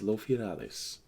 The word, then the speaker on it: Loyalis: Well, I think in common the best pronunciation you can have for it is loyalis.